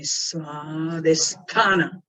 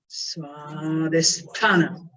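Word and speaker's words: स्वाधिष्ठान: Say that after me, Svadhisthana, Svadhisthana.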